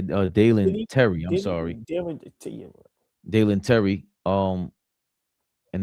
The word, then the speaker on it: Dalen Terry: Was traded to the Bulls for, how you say his name, Darren Tyler? Yeah, Dalen Terry.